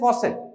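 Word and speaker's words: faucet: तो the pronunciation is फॉसेट।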